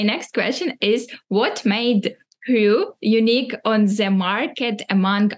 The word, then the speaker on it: Kry: So we say Kry in all our meetings, but definitely our English native speakers are saying cry or something similar. But I think everybody learned now that it's Kry. Even though pronunciation differs a bit from language to language, but definitely it's Kry.